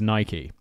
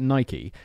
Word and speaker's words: Nike: And everyone has a go at me being like, Simon, it's Nike. And I'm like, yeah, I know. But look, if I pronounce it Nike, every single British person